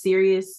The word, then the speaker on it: Sirius: B Sirius, and it's Sirius spelled like the serious like the yeah.